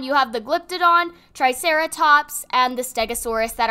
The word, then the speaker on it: Glyptodon: a way okay yeah so you say it like glypted on you have the glyptodon triceratops and the stegosaurus